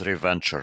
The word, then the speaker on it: Reventure: It's Reventure. Reventure. Yeah, R-E yeah, yeah. Venture. Yeah.